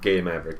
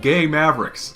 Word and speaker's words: Game Maverick: how we start our game maverick episodes here on zebra stop pronouncing it that way what way stop pronouncing it gay mavericks it's game maverick that's what i said